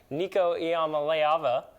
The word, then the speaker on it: Nico Iamaleava: And when you're looking at the quarterback across from him, who's a freshman, who we're still learning how to say his name, Nico Iamaleava, I believe.